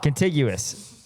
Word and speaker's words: contiguous: Ah, contiguous. Look at that with a hard G. Hard G. I think it's got a hard G.